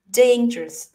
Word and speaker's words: dangerous: อัพเกรด คำ นี้ ค่ะ จาก ที่ เคย ออก เสียง Danger Danger 3 พยางค ใช่ มย ลอง บีบ ให้ มัน เป็น 2 พยางค์ นะ คะ Dangerous Dangerous อ่า เดี๋ยว คุณ